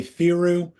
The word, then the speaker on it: Theroux: And it's pronounced thorough. Is that right? I'll go with thorough. I would say theoru.